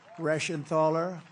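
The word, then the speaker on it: Reschenthaler: great job real Warrior these are warriors guy rashan ther that's the hardest name in the Senate to pronounce but I've learned how to pronounce it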